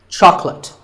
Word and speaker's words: chocolate: this at the store make sure that there are only two syllables chalk and lit chocolate and remember there's no late in chocolate speaking of chocolate how